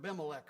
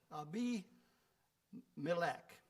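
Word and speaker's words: Abimelech: um now I have used this uh I've pronounced this word ailec for a long time and then I looked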